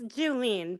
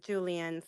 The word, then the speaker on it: Julen: Uh, it's Julen, but everyone says Julian, so either or.